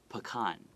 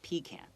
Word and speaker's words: pecan: said chinese is how in english american english we pronounce that word pecan but in britain they they pronounce it pecan oh okay so it's